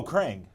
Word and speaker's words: Krang: It rhymes with bang. Oh, Krang.